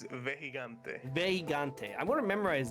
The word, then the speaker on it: Vejigante: How you pronounce it again? It's Vejigante.